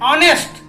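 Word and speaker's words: honest: क्या कर रहे हैं, ऑनेस्ट, यहाँ भी एच जो है वो साइलेंट हो जा रहा है।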